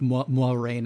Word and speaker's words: Moiraine: Officially, it's sort of pronounced the French way, but not quite. It's like Moiraine.